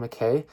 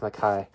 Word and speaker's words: McKay: selected poems by Don McKay uh don McKay or is it maai I think it's pronounced maai um he's a he's a